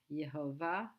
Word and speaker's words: Yehovah: It might be worth noting that there is no J in Hebrew, that both those letters are the same, Yud, and it's pronounced Yeh, Yehovah, Yireh.